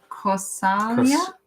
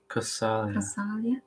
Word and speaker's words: Kausalya: Yeah, and Kausalya. Kausalya. Yeah, Kausalya. Yeah. Kausalya. Yeah. No, yeah, it's got the little line above it, so it's a long ya.